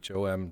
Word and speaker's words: Thom: Twitter at Tom Clancy, THOM, the H is silent, but very important.